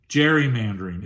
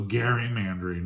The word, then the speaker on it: gerrymandering: Or if you really want to be fanatical about how you say it, it's named after Elbridge Gerry, one of our founding fathers. So gerrymandering, it's just evolved into gerrymandering.